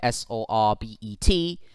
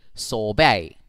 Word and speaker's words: sorbet: it's sol and then the second syllable is bae as in how you pronounce the bay of bengal so therefore if you